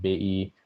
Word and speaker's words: BI: do you work with bai by the way those are the indonesian pronunciations of ojk and bi i speak to the